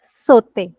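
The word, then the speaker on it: sauté: word Suman saute perfect sote the sound of au we learned is o and if a word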